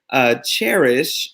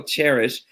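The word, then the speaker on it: Chairish: Cherish, and it's spelled like chair. There you go, Cherish.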